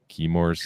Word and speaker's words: Chemours: Chemours.